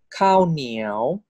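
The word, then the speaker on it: ข้าวเหนียว: So high class live syllable default tone is tone four. Niao, niao. This is cow niao.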